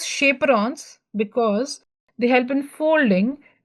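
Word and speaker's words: chaperones: It is chaperons actually but we say we pronounce it as shaperons because they help in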